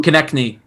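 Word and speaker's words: Konecny: Oh, Konechny.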